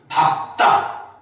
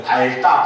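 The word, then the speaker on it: 밟다: 단 밥은 무조건 밥입니다. 알겠습니까? 밥다, 밥고 이렇게 돼요. 근데 학생들 중에 착각하죠. 밝다, 밝고 하는 학생도 있는데 잘못된 발음입니다.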